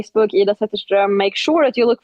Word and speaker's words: Zetterström: That's IDA, and last name is Zetterström, and I know I'm not pronouncing it as beautifully as it is. It's Zetterstrom.